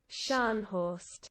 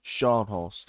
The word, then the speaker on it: Scharnhorst: Um, Scharnhorst. Scharnhorst. Okay, okay. We got it right. We got it right. Now, everybody knows that Scharnhorst in Battleships has the 283mm guns. The Scharnhorst in Naval 1945 has the 380mm guns, which